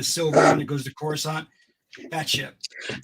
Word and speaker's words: Coruscant: You got to see the ship, the silver one that goes to Coruscant, that ship. That's how you say it. I was calling it croissant because I'm like, I'm going to botch this name.